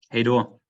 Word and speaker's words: hej då: Hej då.